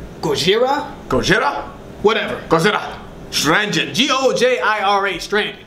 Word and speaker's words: Gojira: I don't know if it's pronounced Gojira, Gojira. Gojira?